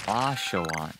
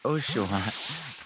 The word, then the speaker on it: Asha: don't worry I still remember Asha not oshaan ashaan that was so funny